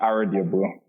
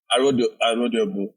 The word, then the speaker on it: Arodiogbu: So if I was pronouncing it, it would be Arodiogbu. Arodiogbu.